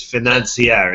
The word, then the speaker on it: Financier: I think it's Financier. It's spelled in English like financer.